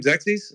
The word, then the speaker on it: Xerxes: So I guess what I'm saying also, what's your name, Xerxes? Am I saying it right, Xerxes? Yeah, you're right.